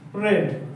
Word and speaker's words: read: আই রেড এ বুক এখানে দেখো লিখছো তুমি রিড কিন্তু বলবে রেড কারণ রিডের যে পাস্টের উচ্চারণটা আছে সেকেন্ড ফর্ম সেটা রেড উচ্চারণ কি বলবে তাহলে এটা রেড বলবে লিখে রাখো নেক্সট আমি